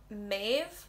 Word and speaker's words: Maeve: thinking of moving on to m we have maeve another really hard one to pronounce it's very irish name well they use